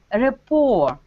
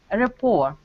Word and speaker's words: rapport: which is also very interesting so it is pronounced like a rapport rapport you know this demon lord remember what this